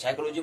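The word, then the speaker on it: psychology: साइकोलॉजी में कहते हैं PSY कहते हैं, साइकोलॉजी SY से प्रारंभ हो रहा है, तो पी का यहाँ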